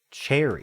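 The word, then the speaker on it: chary: Cherry. Cherry. It's pronounced cherry.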